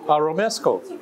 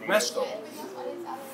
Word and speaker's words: Romesco: Romanesco. Romesco. Romesco.